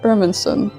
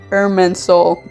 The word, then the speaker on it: Irminsul: to do this happens in Irminsul. Oh my god, why did I say it like that? The first time this happens is in Irminsul. There, I said it correctly.